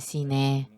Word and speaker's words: Sinaí: Es el monte Sinaí, en coreano se dice Siné.